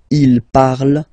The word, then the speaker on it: il parle: And the last one, so even if you've got this ent, well, don't hate me, but you won't pronounce these letters, okay? You have to write them for the plural form, but you don't pronounce them, so you get il parle, elle parle.